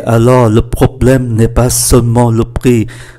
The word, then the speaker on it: seulement: Oui, mais alors le problème n'est pas seulement le prix. Seulement, ba âm tiết, chúng ta cũng chỉ phát âm là hai.